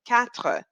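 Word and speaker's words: quatre: four in English and off it's K now you'll see that this word K in French is spelled with a Q now in English we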